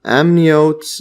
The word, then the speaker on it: amniote: find this over here how to pronounce this so yes this is saved my life saved me a lot of time just doing this amniote yes so this is amniote so diapsid or two